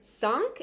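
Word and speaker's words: cinq: single letter here then sank and not sink s the air goes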